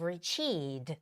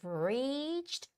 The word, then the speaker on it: reached: be readed right so a lot of Koreans would say you've Reed which is wrong the stress goes on the E and a syllable which is reach you got to make it sound it long so you've reached Bright